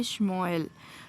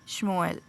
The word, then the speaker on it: Shmuel: but from my side I think this is the correct pronunciation. Okay, Shmuel. So in the early I was just reading it different, but that was not correct. This is the correct pronunciation, Shmuel.